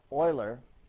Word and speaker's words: Euler: Euler and john napier euler i know it looks weird but it's pronounced euler he's the guy that's